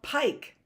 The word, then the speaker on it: pike: How about pike? Pike is a fish. It's a long fish like this. Pike. How about pike? We know it ends with I-K-E. E is silent on the end.